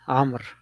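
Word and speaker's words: عمرو: are saying something one distinction is that Omar versus am this wow is for pronun for written purposes so that we know that it is not Omar right it's am and we do not pronounce this wow it's just written there for to distinguish between the two names so brotheri go ahead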